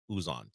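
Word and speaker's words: Uzan: Samson talk about him to make sure I got the right pronunciation Milos is what he calls him uson uh he he knocked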